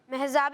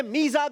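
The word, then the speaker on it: ميزاب: महजाब रहमत। सही प्रोनाउंसिएशन है मीज़ाब रहमत।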